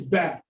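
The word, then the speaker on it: ب: First letter we're going to take today is ba.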